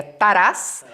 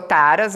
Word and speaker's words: Taras: Então aí, meu sobrenome é ucraniano, as pessoas perguntam muito, a pronúncia correta seria Taras, né? E ficou Taras, abrasileirado e tal, e tá tudo certo.